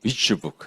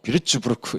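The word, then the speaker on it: Würzburg: 제가 독일에 이제 한 3개월 연수를 받은 적이 있는데, 발음으로 독일 사람한테 발음을 하면 아무도 못 알아듣더라고요. 비츠부크 이렇게 하더는데, 하여튼 제가 비르츠부르크 이래 못 알아듣더라고요.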